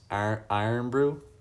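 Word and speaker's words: Irn-Bru: It's pronounced iron brew.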